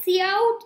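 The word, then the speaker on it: cout: operator so it's saying c out is it said like say c and then out so see how it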